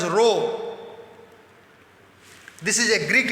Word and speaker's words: rho: This proportionality constant, which is represented by a Greek alphabet pronounced as rho.